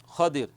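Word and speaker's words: خضر: उस जगह पर आते हैं तो उनको हजरत खजिर अल सलाम मिलते हैं। देखिए जो हम खिजर बोलते हैं यह प्रोनाउंसिएशन जो है सही नहीं है बल्कि जो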